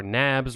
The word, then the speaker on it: NABs: Two, new arrangements to borrow or NABS, rhymes with dabs, where countries essentially agree to lend to the IMF if the IMF needs to distribute additional credit.